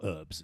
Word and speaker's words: herbs: I mean, herbs or herbs, as it's pronounced over here.